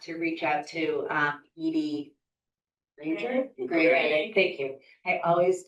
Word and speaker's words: Edye: Yeah, it's Edie, it's spelled Edye, and then.